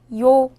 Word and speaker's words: 요: 요. 요는 먼저 이를 소리내다가 바로 이어서 오를 소리내며 발음합니다. 이와 오를 순서대로 빠르게 말해요.